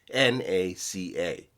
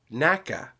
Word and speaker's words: NACA: Interestingly enough, during its existence, the organization was pronounced as an initialism, meaning as each individual letter, NACA. However, when it was replaced by NASA in 1958, people then assumed that it had been pronounced NACA, and now both pronunciations are considered correct.